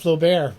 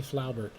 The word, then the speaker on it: Flaubert: We're going to talk about Gustave Flaubert, or as he's properly pronounced, Gustave Flaubert. Don't let any other idiot tell you something that contradicts me about pronunciating French names. It's Gustave Flaubert. And Flaubert, or Flaubert as some people mistakenly call him,